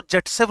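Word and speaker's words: Zaitsev: इसको जेटसेव रूल भी बोलते हैं। 2020 में इसका जो नेम है वो जेटसेव लिखा आया था, ZDITSCV, जेटसेव, क्लियर है? वैसे सेटजेफ बोल देते हैं जनरल प्रोनाउंसिएशन में।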